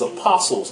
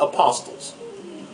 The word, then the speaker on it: apostles: I like to tell Medina Pullings, and also Tony Smith for that matter, that the T in apostles is silent. It's apostles, not apostles. I hear other prominent prophetesses and ministers that have no concept of subject-verb agreement.